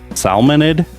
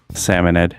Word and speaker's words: Salmonid: Salmonid? No. Salmonid. I really confuse myself because sometimes I overpronounce it as salmon as a joke.